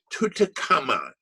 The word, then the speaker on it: Tutankhamun: Notice the way we pronounce his name, Tutankhamun.